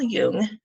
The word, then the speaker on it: Jung: more um alright Newman came along so Karl Yune that's how you say his name is you